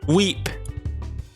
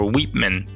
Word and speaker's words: Weep: But today, our challenge is from Weep. So I figured out I was pronouncing it wrong. Well, I was calling you by the last part of your name, but instead it's Weep or Weepman.